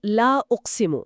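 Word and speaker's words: لا أقسم: তো এর শুদ্ধ উচ্চারণটা হলো লা উসিমু।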